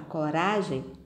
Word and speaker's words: coragem: Na palavra coragem, ra é a sílaba mais forte.